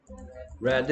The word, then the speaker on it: read: Red, red. 형태는 똑같은데 EA가 E 발음이 될 때도 있고 E 발음 될 때도 있는데 얘는 E, 얘는 E, E.